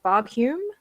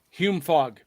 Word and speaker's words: Hume Fogg: She went to high school at I know I'm going to pronounce this wrong. Fogg Hume. Hume Fogg.